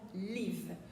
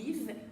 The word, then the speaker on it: live: Effectivement, on ne prononcera pas ce mot live. On ne va pas dire I live, mais plutôt I live. Alors, la prononciation de ce petit I est à cheval entre le E, accent aigu du mot épée, et le I du mot ri.